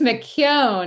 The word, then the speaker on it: McKeon: it's McKeown. It's like a Q sound and then own like you own a house, but nobody gets it right unless they're actually like born in Ireland.